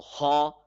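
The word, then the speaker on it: خ: So kha, aw. Both the sounds are rhyming. So it means that it has an aw sound at the end of this alphabet.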